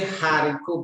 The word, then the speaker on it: haricot: Comme dans haricot. Haricot. You don't say haricot because the letter that comes after the A, the H is A. So it is a silent H here.